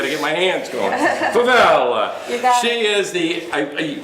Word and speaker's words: Favela: Favela. There you there, go. if I say it like an Italian, I could get it. I got to get my hands going. Favela.